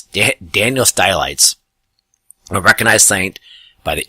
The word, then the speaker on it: Stylites: I've heard it pronounced Stylites, but it's really, I believe, Stylites. Stylites. Sounds like skylight.